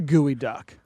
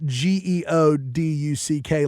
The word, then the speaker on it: geoduck: What is a gooey duck? It's a burrowing clam. Fair enough. It's disgusting if you search it, for sure. Really? It's also spelled Geoduck, like geoduck, but pronounced gooey duck.